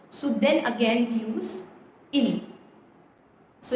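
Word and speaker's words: ils: for they we have ill and L remember the pronunciation guidelines even if there is an S at the end we do not pronounce that s it is pronounced as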